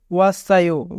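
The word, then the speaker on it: 왔어요: যদি বাচ্চিম থাকে এবং বাচ্চিমের পরে ইয়ং থাকে তবে বাচ্চিমটি ইয়ং এর স্থানে যায়, তাই সাংসিয়ত বাচ্চিমটি ইয়ং এর স্থানে যাবে, উচ্চারণ হবে ওয়াসায়ো।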